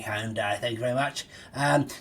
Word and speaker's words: Hyundai: advert the other day saying it's not pronounced Hyundai it's pronounced Hindi yes um I don't know what's wrong anymore um as far as I'm concerned it's Hyundai and it's staying Hyundai thank you very much